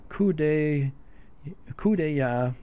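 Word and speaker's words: coup d'œil: and it's called Uh coup day coua it's kind of hard for me to say it's a French word and uh it's pronounced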